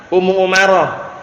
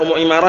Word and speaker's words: Ummu Umarah: Ummu Umarah. Kemarin bacanya Ummu Imarah, yang tepat Ummu Umarah.